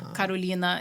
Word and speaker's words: Carolina: I'm Brazilian and so Karolina is how you say my name in Portuguese and so in Brazil